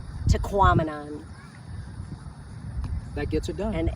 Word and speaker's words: Tahquamenon: They say that if you don't know how to pronounce it, when you look at it, think of phenomenon, Tahquamenon.